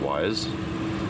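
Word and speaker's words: Wyze: show you so the cameras are wise I guess that's pronounced wise and it's like 35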